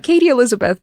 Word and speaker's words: Kati Eliisabet: Kati Eliisabet. That's the Estonian pronunciation. Kati Eliisabet, but written in Estonian.